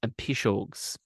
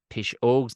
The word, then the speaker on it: Piseogs: It is pronounced Piseogs. Piseogs, nothing to do with taking a pish.